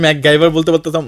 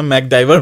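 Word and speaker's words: MacGyver: হ্যাঁ, আমার মনে আছে আমি ম্যাকগাইভার বলতে পারতাম না, ম্যাকডাইভার বলতাম, তখন উচ্চারণ ঠিক হয় না তো এইভাবে আর কি হয়ে গেল।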